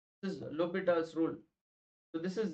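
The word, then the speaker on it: L'Hôpital: don't read this as L hospitals rule it should write as low bet else rule H and S is silent this is Lupita's rule so this is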